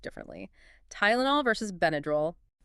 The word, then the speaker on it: Tylenol: Tylenol versus benadrol. Good comparison. In Tylenol, the Y represents a long I sound like in Thai. So, it's Tylenol. Notice the schwah in the unstressed second syllable, right?